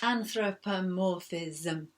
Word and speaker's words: anthropomorphism: And that was because we were introducing a new word, anthropomorphism, with 6 syllables, anthropomorphism. And it means when you